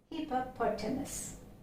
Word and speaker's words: hippopotamus: syllables in it and the stress of this word more is here okay so it is here we have we have to stress since it's a long word uh the stress is falling here so for short words